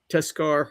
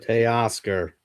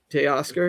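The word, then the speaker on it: Teoscar: Tescar Hernandez. Tay Oscar. Tay Oscar.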